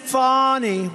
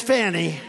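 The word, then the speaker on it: Fani: perfect call with Ukraine you have a woman named fonnie well it's now even though it's I believe it's spelled f a ni I to my way of thinking that's Fanny but when she became the district attorney I think she put a little emphasis on the you funny fny it spelled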